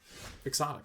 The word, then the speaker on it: quixotic: And even though the word quixotic is based upon Don Quixote, is spelled very similarly, it is pronounced quixotic.